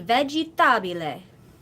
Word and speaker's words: vegetabile: So if you put that together, all the syllables, ve, ji, ta, bi, le. Ve. Ji. Ta. Bi. Le. Yeah. So di vegetabile.